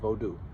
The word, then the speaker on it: Vodun: Vodu, uh, V O D U N, silent N. It's pronounced Bodu.